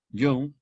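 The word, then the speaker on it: Jung: con carl gustav yo aunque se escribe con jota hong terminado en g suizo young había clasificado también a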